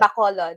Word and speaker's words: Bacolod: Bacolod.